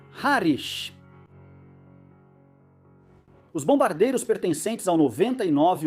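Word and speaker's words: Harwich: contra a cidade britânica, cujo nome se escreve Harwit, mas por alguma razão estranha e completamente inexplicável se pronuncia Harish.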